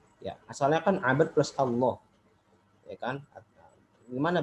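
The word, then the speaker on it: الله: Allah kita bacanya jangan Allah, ya, jangan ngomongnya Allah, ya. Kalau Allah itu lamnya lam tipis, lam tarqiq, dan itu tidak dibenarkan. Jadi yang ngomong Allah. Kalau secara penulisan ya boleh. Tulisan jangan Allah, itu mengikuti kaidah transliterasi, itu beda lagi. Tapi secara pengucapan kita tidak boleh mengucapin Allah.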